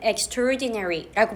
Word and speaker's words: extraordinary: 또는 exra ordinary 원래 발음은요 exra ordinary 이렇게 끊어서 하지 않고 exterdinary 이렇게 한 단어로 발음할 때는 extraordinary라고 발음이 됩니다.